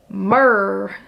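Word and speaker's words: MMRR: is a new ride Mickey and Minnie's runaway railway apparently is mm RR pronounced mur Thank You Mady for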